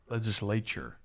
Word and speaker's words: legislature: Legislature. Okay. Yeah, I knew I was pronouncing close.